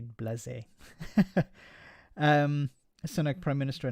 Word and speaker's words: blasé: I know, Blasé, but sometimes he says Blaze. He says, call me Blaze. It's more correct. I think with the accent on the E, you have to say Blasé.